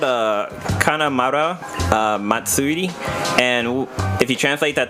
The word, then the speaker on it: Kanamara Matsuri: jumping back to the Japanese penis parade it's pronounced it's called a kanamara matsuri and if you translate that to English it